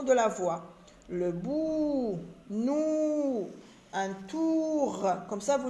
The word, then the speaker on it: nous: est une lettre muette nous pronom personnel nous s lettre muette un tour un tour